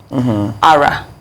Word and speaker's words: Ara: So, with the accent on the name, Ara, for instance, is do, do.